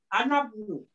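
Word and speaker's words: أنا ابنُ: হ্যাঁ, এটা বাদ যাবে, এইটার উচ্চারণ হবে আনাবনু, আনাবনু।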